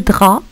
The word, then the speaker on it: drap: Le drap, ça s'écrit avec un P.